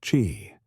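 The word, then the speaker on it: qi: At the core of Tauist medicine is the concept of ki, pronouncedq chi, the vital energy that flows through the body and all of nature.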